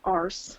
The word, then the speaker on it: arse: Arse. They kind of pronounce it with the R.